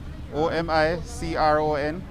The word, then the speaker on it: omicron: like that i mean what's the pronunciation on a new variant a micron what makes it so sure that's how it's spelled o-m-i-c-r-o-n or micron it's the omicron variant you sound very positive